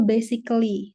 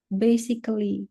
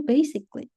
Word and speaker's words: basically: Kesalahan lain, misal basically. Sering banget aku dengar basically. Yang betul itu basically. Jadi L-nya hilang, basically.